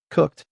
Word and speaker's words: cooked: Cooked ends with T because cook finishes with a voiceless K.